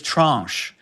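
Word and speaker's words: tranche: Um, and the word is trunch. And that's an interesting u pronunciation. We only give the one with with that nasalized vowel, that French sounding vowel.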